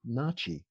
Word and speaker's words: Natchez: And in researching them, I found that there was a tribe called the Natchez. Actually, they pronounce it Nachi.